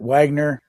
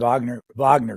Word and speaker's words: Wagner: Others pronounce it because of the German Richard Wagner Group. Why did you decide to pronounce it Wagner and not Wagner? For a couple of reasons. In Russian, there is no W.